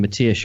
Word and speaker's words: Matias: How come you can master the art of pronouncing Matias correctly, but still pronounce João wrong?